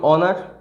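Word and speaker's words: honour: তো ইংলিশের যেটা ব্যবস্থাটা আর কি, সেটা হচ্ছে ওয়ার্ডগুলোর উচ্চারণটা যেন সোজা হয়, যেমন অনার, তারপর সেরকম একইভাবে এই যে ওয়ার্ডগুলো অনেস্ট, অনারেবল,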